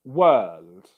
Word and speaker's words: world: If you have vowel plus R in English, that usually means that it's going to be a long English vowel sound. Okay? For example, this here is pronounced world. Long Okay?